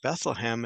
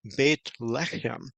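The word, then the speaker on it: בית לחם: In fact, it's even the irony of it that they came from Bethlehem, and we see in Hebrew it's not pronounced Bethlehem, it's pronounced Beit Lechem, and Beit is the word for house, and Lechem is the word for bread.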